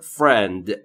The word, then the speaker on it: friend: ما frend دوست من در مورد تلفظ frend دقت بکنید بین اف و r صدایی مشاهده نمی فرمایید پس ما هم مجاز نیستیم صدایی رو اضافه بکنیم پس تلفظ درست میشه فرند باب اسم خاصه و